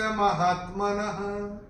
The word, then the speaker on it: महात्मनः: और चौथे चरण में न के बाद जो विसर्ग आ रहा है चरण की समाप्ति पे आ रहा है, उसका उच्चारण केवल और केवल ह ही होगा। भासस्तस्य महात्मनः, ऐसे करके आएगा।